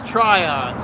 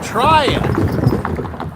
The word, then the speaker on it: Tryon: you later Tryon huh all this time I thought it was TRON so trying trying Georgia I got to